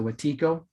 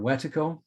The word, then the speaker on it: wetiko: each other and went wetiko some people will pronounce it watico or wetaco and and they knew